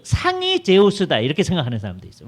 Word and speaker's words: 제우스: 제일 중요한 신이 제우스예요. 주스라고 하는. 제우스인데 이제 서양 사람들이 발음하면 주스 이렇게 되니까 그래서 우리말 성경에 스스라고 표현돼 있죠.